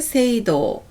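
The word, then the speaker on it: 聖堂: 읽기 새 읽기라고 하고요 성당을 세이도 세이도라고 합니다 정성성입니다 성의를 세이 세이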